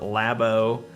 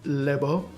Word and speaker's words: Labo: talking about the Nintendo lab Oh announcement that happened it's pronounced lib oh is it say I